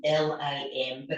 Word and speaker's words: lam: mantra for Earth is lamb l a m but it's pronounced the same as thumb lamb so in a